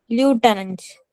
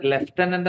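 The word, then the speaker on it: lieutenant: ഇതിന്റെ കറക്റ്റ് ഉച്ചാരണം അറിയാവോ? ലൂട്ടനന്റ്. Very good. അതാണ് കറക്റ്റ് ഉച്ചാരണം. ഇത് ലെഫ്റ്റനന്റ് നമ്മൾ പറയുന്നതാ.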